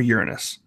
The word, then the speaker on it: Uranus: Physics works the same on Earth, the moon, or Uranus. Now stop that giggling. That's how you pronounce it.